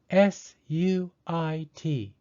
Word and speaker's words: suit: to buy a house suit is spelled s-u-i-t because you and i are both vowels the second vowel i is silent and the first vowel u takes the long u sound suit right i am